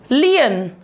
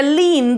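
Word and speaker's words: lien: लियन, लियन या लीन, दोनों में से कुछ भी प्रोनाउंसिएशन इसका ठीक है, लियन या लीन।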